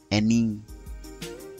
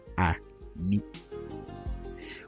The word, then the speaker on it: ani: Eni is spelled a-n-e, but pronounced eni, not a-ni.